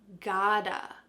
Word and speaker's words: gotta: to, we can say gotta. We often write this in a text message or in a quick email as G-O-T-T-A. Gotta. What's happening with the pronunciation? That T is changing to a D.